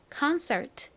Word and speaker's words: concert: 나왔습니다는 트 소리가 나죠 연결해 보면 concert 됩니다 concert 한국식으로는이 단어를 콘 서트 보 보통 이렇게 표기하고 발음합니다 많이 들어보셨죠 여러분 콘서트